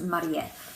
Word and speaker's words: Marie: I don't know what we would define that as, but in Japanese it's actually pronounced Marie.